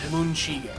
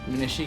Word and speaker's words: Muneshige: See, because I see the last name, I think Munshige. Munashige. But it's Japanese, you gotta add that unnecessary syllable. No, it's the same amount of syllables. Muneshige? Munashige, it's 4 syllables. Yeah, Munshige is 3.